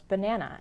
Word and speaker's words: banana: to describe stress was banana and I mentioned how the first and the third syllables though written with A's are not pronounced a as an apple but uh as an umbrella but wait why if